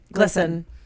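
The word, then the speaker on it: GLSEN: So it's split between two Glisten. Charities. Okay. Glisten. And Glisten. Yeah. And what? Glisten. Gay, spelled G-L-S-E-N. Glisten.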